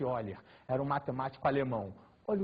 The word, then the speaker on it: Euler: a mediana de eiler escreve-se Euler mas pronuncia-se eiler era um matemático alemão